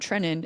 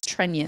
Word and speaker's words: Trenin: So I'm going to just say it's Trenion. It is not Trenin. It is Trenion.